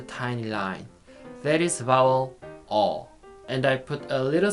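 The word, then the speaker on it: ㅗ: is the second vowel it sounds like all all if you want to pronounce vowel or correctly open your mouth and your tongue should be back and middle oh oh okay let us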